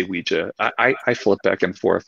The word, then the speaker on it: Ouija: So we were talking about the way you pronounce Ouija. What do you prefer that people say, Ouija or Ouija? If I'm talking about today's Ouija boards with people, I say Ouija.